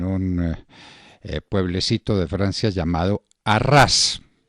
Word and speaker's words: Arras: pueblecito de francia llamado arras lo estamos pronunciando así como se escribe a ras maximiliano robespierre 1758 quiere